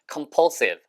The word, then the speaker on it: compulsive: compulsion compulsion compulsion 그래서 얘가 강박적인 compulsive compulsive sive라고 발음 세면 안 돼요.